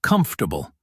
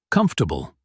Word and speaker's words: comfortable: 2 common ones are vegetable and comfortable. Say them quickly and lightly. Vegetable, comfortable. Don't push every syllable, just let the sound flow.